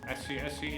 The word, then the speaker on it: SS: nothing short of magical scsc incidentally is the Italian pronunciation of ss which stands for Super Sports man 55 game